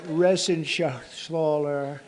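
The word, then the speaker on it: Reschenthaler: You know that Resenshathaler. That's actually the way you pronounce it, you know. Nobody else gets it right.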